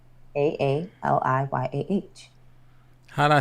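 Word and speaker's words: Aaliyah: But I'm saying how you spell it. That's my name. A A L I Y A H.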